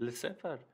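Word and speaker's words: laissez-faire: Lesefer miydi? Evet, Le Sefer.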